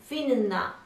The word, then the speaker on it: winna: So we need to pronounce these two N's.